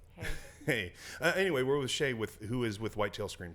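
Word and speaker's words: Shae: Well, it's because it's spelled different than, like Shea Stadium or whatever. It's flipped. It's AE instead of EA.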